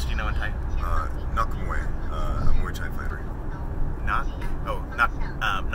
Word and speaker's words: Nak Muay: Well, actually, the when a K or a G is at the end of a syllable, then it's pronounced identically.